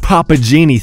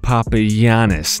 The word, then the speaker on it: Papagiannis: favorite player papanas not Papa Genie thanks Kevin Harlin I'm going to trust the viewers from Greece that his name is pronounced Papa yanis not Papa Janie but one thing is